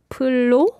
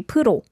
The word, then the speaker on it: 프로: So I found the 프로 sound a bit like 풀로. Okay. Yeah, again, the lir sound should be pronounced well. 프로, it should be 프로. Yeah, so it's a little more of an R than an L.